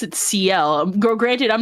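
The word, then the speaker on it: Ciel: So anybody who says Seal instead of CL, I'm going to look at you funny.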